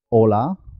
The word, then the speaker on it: hola: La H hay que tener cuidado con ella, porque como no suena, puede confundirse con otras palabras como hola, saludo, y ola del mar. Hola se escribe con H. Hola se escribe sin H. Las dos suenan igual.